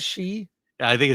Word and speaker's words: Xi: Isn't it pronounced she?